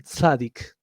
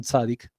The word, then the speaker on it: tzadik: Pero es importante que se sepa esto, porque un tzadik, trato de pronunciarlo fácil para ustedes, esto sería con una T, una Z, una A, una D, una I y una Q final, un tzadik.